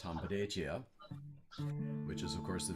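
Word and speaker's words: hanbleceya: And so he honored us with the invitation to come out to Bear Butte and participate in Hambletia, which in Dakota is pronounced Hambletia, which is of course the Vision Quest.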